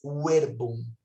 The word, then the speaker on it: verbum: E não existia a letra V em latim. Ela era pronunciada como U. Então, por isso que fica in principio erat verbum. Porque na época de Cristo, não havia a pronúncia do V. Era pronunciado como U.